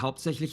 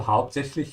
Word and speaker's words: hauptsächlich: So hauptsächlich, you might find a bit of a challenge pronouncing that. If you do, try to practice it throughout consecutive days. Yeah, don't practice it in one go. Start with the and, with lich.